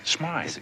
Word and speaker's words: Smythe: Look, Mr. Smith. Smythe. It is pronounced Smythe.